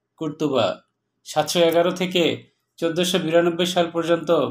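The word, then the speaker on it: قرطبة: মুসলিমদের শাসনাধীন আন্দালুসিয়ার রাজধানী ছিল কর্ডোবা, আরবিতে কর্ডোবার উচ্চারণ কুর্তুবা।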